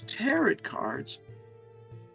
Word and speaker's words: tarot: He bought some of those tarot cards." She pronounced it like carrot.